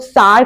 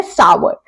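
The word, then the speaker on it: sour: कहते हैं कुछ लोग सार कहते हैं पर इसका करेक्ट प्रोनंसिएशन होता है सावर जी आजकल हम इसे सार या सौर नहीं कहते खट्टे को हम इंग्लिश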